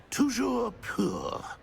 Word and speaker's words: toujours pur: Uh I order you to pronounce it for me. But master knows that Scrope's French is most pitiful. Very well. Toujours pur.